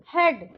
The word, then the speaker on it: head: हेड, हेड मतलब हेड नहीं बोलेंगे, ए का प्रोनाउंस नहीं आएगा यहाँ पे।